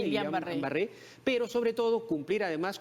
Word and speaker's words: Guillain-Barré: ver con el síndrome de Guillain-Barré, así se pronuncia, Guillain-Barré, pero sobre todo cumplir además con estas recomendaciones de vacunación.